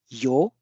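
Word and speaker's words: 曜: First is this kanji, which is pronounced as yo, and the meaning of this kanji is sunshine or something glorious like the sunlight, the daylight, the shine, or the weekday.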